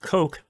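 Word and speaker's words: Koch: know about this company it's pronounced coke not the other one um i said we're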